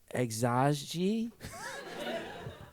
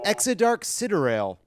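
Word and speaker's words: Exa Dark Sideræl: Exaji? Incorrect. The correct answer is Exodark Siderail.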